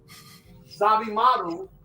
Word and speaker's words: Zabimaru: And I believe Zabimaru is how you pronounce the one.